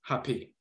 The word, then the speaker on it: Hapi: So Hap or Hapi, you have different spellings of the name. Sometimes it's Hap, sometimes it's pronounced Hapi.